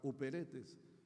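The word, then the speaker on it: ὑπηρέτης: Luego viene iperetes. Ahí está uperetes. La u se la u en el griego se se pronuncia como i. Entonces, y Peretes es el esclavo del más bajo nivel, de la más baja condición.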